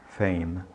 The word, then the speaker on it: fame: fala Fama em inglês não pronuncie esse e diga Fame e M encontrar em